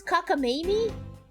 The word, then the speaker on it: cockamamie: How do you pronounce this? Cockamamie?